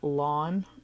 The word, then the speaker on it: ln: along like as in lawn like you mow the lawn so it's Ln and it just it's